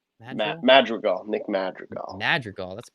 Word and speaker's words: Madrigal: coming up mad how do you say it mag girl madrigal nick madrigal madrigal that's a pretty sweet last